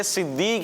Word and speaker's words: صدیق: یہ صدیق ہے. کیا ہے؟ صدیق ہے. تو تلفظ کا بھی پیارے بچوں آپ لوگ خیال رکھا کریں.